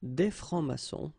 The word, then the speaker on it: francs-maçons: S here and S here. Des francs-maçons, and then you don't pronounce them.